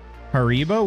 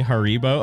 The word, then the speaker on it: Haribo: Haribo?